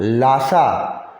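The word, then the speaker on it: Lhasa: जैसे मैंने आपको जगह का नाम बताया था लासा, उसमें भी H साइलेंट था, इसमें भी H साइलेंट।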